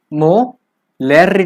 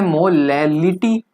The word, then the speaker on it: molality: मोलेरिटी वह क्या था मोह लूटी थी की स्पेलिंग में फर्क है सब कुछ चिपक है लेकिन इसको बोलने में कई सफल हो जाते हैं यह मोह लूटी यह है ठीक है